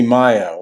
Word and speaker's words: Malo: Raul Malo and Jamey Johnson. It might be pronounced Mayo, but in Espanol or in Spanish, it would be Mayo, like Cinco de Mayo.